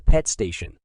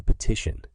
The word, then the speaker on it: petition: Kaya snapped her fingers and said, Yes, the pet station. Pete station. The children looked puzzled. It's called a petition, not a pet station, Kaya, explained Deepika Didi with a smile on her face.